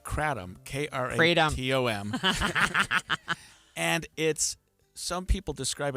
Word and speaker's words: Kratom: I'm shaking my head at you because we asked for pronunciation because I didn't know either, but I've been told it's Kratom.